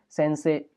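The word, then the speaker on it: 先生: भी बताया था कि कभी भी ना ए साउंड के बाद जब भी ई आता है, हमने ओल्ड वीडियोस में कई बार एक्सप्लेन किया है, तो हम ई को साइलेंट कर देते हैं। तो जैसे सेन से ही नहीं बोलेंगे, सेन से, गाक से ही नहीं बोलेंगे, गाक से, इस तरह से।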